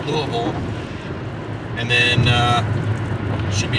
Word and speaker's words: Louisville: we are passing through louisville or louisville people get upset if you don't say it right louisville and then uh should